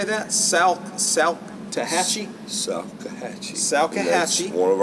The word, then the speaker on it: Salkehatchie: Salkehatchie.